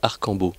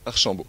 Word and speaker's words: Archambault: C'est Archambault ou Arcambault? Archambault. Archambault.